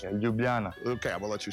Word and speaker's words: Ljubljana: Yeah, Ljubljana.